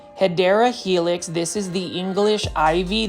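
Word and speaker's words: Hedera helix: And then you can see right over here, we've got a heedra helix or the correct way to say it is hideera helix.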